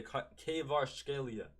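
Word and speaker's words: Kvaratskhelia: uh Cave archelia uh is that how you say his name kevar donor or the the right way kevar Scalia I finally learned how to say it kevar Scalia great great season uh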